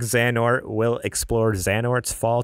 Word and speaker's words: Xehanort: get it for you you might need to help me with some of this pronunciation go project project Xion or zan or okay cool I wouldn't have thought that project zan or will explore zan orts